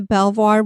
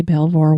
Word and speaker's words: Belvoir: the property that is now home to the Belvoir... Now it's going to get in my head. Yeah, we were discussing, how do you say Belvoir Winery?